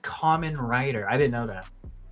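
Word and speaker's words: Kamen Rider: Com it's pronounced common rider. I didn't know that. Oh, I've been hearing people say for years Cayman writers I love VR troopers and superhuman samurai.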